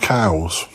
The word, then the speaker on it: Cowes: At the moment, we're hoping to go to a town called Cowes. Now, yes, not as in moo cows. It's spelt Cowes.